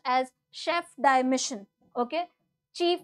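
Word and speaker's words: Chef de Mission: Satya prakash sangan as the now this is pronounced as Chef di Mission okay chief d missions basically the chief of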